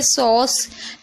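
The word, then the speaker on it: sauce: इसी तरीके से सॉस, एस को सा पढ़ें, ए यू को ओ पढ़ें और सी को सा पढ़ें। लास्ट वाले को हम पढ़ते नहीं है, साइलेंट रहता है इसलिए।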